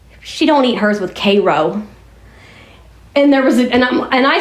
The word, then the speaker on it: Cairo: That's how they pronounce it, Cairo, like the syrup. Not Cairo, like Egypt, right?